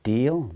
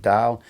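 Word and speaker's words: deel: looking thing called a deal dal i think they pronounce it it's pretty it's spelled d-e-e-l but i think they pronounce it dale then there's a coat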